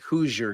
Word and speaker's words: Hoosier: I mean, I'm not saying Hoosier Girl's drunk, but if she were, that would, So you know how you say it, it's who's your girl, right?